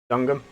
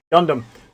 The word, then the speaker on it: Gundam: So you finished the mission, and you've got the rest of the story on Dungum. Dungum. I know you're going to go crazy because I was pronouncing it right. Wrong. Gundam.